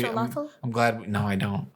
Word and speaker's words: axolotl: You gotta do the thing with your tongue with the TL though. It's very kind of difficult. So you want me to spit on the mic? No, you just kind of have to like lift your tongue up in the middle.